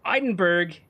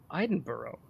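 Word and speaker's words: Edinburgh: give you a tip eidenberg is pronounced Iden Boro oh ideno is pronounced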